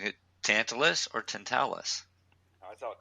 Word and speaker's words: Tantalus: It's pronounced Tantalus.